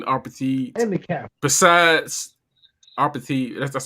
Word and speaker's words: apartheid: Besides apartheid. That's how it's pronounced.